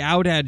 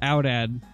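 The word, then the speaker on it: aoudad: uh cool steer now is it pronounced out or audad pretty sure it's pronounced out ad don't they generally get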